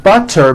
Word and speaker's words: butter: So if a letter T falls between 2 vowel sounds, which are voiced, so if it falls in the middle of vowels, then the T is pronounced as a D and the whole word is voiced.